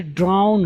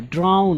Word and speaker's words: drown: यहाँ पे इसको लोग ड्राइंग पढ़ते हैं, एन साइलेंट कर देते हैं, जो कि गलत है। ड्रॉ अलग चीज़ है, इसका मतलब होता है खींचना, कोई चीज़ ड्रा करना, लेकिन यहाँ पे ड्राउन है, ड्राउन मीन्स डूबना, तो